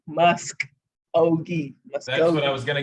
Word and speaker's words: Muskogee: do you say it muskogee s-k-o-g-e-e musk ogie that's what i was